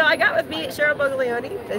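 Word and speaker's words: Boglioli: Every you should keep putting an N in there. Oh, I do. I don't know why. Boglioni. Boglioni. See, now I said it right.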